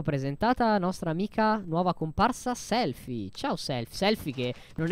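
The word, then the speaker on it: Selphie: cellulare, ma lei è Selfie, scritta Selfie con la PH, Selfie. Si pronuncia Selfie. Voi siete la squadra B?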